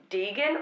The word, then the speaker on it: degen: to whether it's pronounced Deegan or Deegan? Deegan. Deegan? Deegan, like, like, Deegan, it's from degenerate, isn't it?